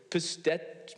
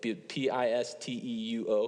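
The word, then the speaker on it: πιστεύω: I think if you look at the Greek word, pistet, I don't know how to say it, Pisteuo.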